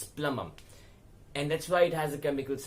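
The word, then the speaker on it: plumbum: PL um B um plum um please understand that there is a B in this word but the B is silent it's plum um it's not got gum bum it's it's plum um and that's why it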